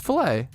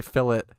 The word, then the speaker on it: filet: yeah based Bas fillet oh I think British people say fillet or some right which is actually crazy how do British people say filet oh my God you guys say fill it two syllables fill it no way it's yeah true we don't say fill it I don't know man it all comes back to the British true it's a French term I care what they